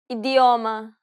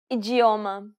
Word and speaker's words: idioma: expect first let's see the two ways you can pronounce the d Ade idioma ijioma now pay attention to